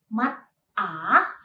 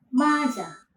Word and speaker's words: 맞아: Maka ini tidak dilafalkan mat A, melainkan konsonan ciet pada bacim berpindah ke initial positions. Maka kata ini dilafalkan menjadi maja. Jadi bukan mat-a, melainkan maja. Nah, jadi tulisan Hanggeulnya itu mat-a, tetapi waktu kita melafalkannya menjadi maja.